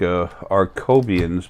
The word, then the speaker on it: Archoebien: new group of people it's like our Coby ins but it's spelled more like arch Obion they're really cool people